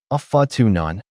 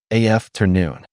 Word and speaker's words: afternoon: "Not fa tu none. Listen carefully, af ter noon. 3 syllables. The first syllable is stressed, the second light, the third drawn out. Relax your mouth, the final sound should be rounded, like oh.